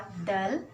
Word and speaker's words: though: Gentle voice सौम्य आवाज, दो THOUGH इसका उच्चारण होता है दो।